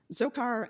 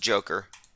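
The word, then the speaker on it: Dzhokhar: in 2010 boston bomber zokar and sarnov if i'm pronouncing that correctly said that reading it's pronounced joker people's history of the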